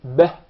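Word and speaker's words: بِهِ: The ba has a kasrah beneath it. So we must make sure it is pronounced as kasrah. It's commonly mispronounced to be beh. If you notice, the kasrah is with a smile, beh.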